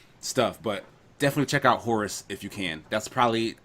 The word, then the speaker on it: Horace: But no, it's like no, it's Horace, like a European name or something.